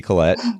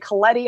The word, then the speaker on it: Collette: with a brand new friend of mine Lindsey Collette and and Lindsey my pronouncing your last name correctly there I just kind of assumed great I'm surprisingly like people really get hung up on it I get Coletti all the time I mean I thought it